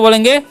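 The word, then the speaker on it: blow: हम क्या पढ़ते हैं इसे हम लोग पढ़ते हैं ब्लो ब्लाउ नहीं पढ़ना है ठीक है ओड का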